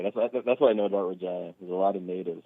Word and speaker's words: Regina: This Regina is how it's pronounced. I would have said Regina.